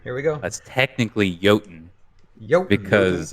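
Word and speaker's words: Jötunn: we go that's technically yotin because it's it's Old Norse yeah it's an old Norse the Old Norse word for giant is they pronounce their JS with a y yeah but that's right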